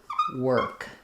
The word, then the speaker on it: work: it with an sound work? So letters o r just say the sound in this word. So when we say a word like we were working, these two sounds should be the same.